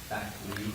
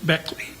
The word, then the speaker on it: Beckley: Uh this morning, one of my investigators uh advised me that uh according to her attorney, she pronounces it Beckley. Beckley Beckley.